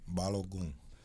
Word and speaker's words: Balogun: Pronounce it for me. Balogun.